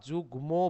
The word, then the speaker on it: যুগ্ম: এই যে এই ধরনের এই শব্দগুলোর সাথে যদি কখনো ম ফলা থাকে তাহলে ম ফলা দ্বিত্ব উচ্চারণ হয় না, ম ফলা সরাসরি উচ্চারণ হয়ে যায়।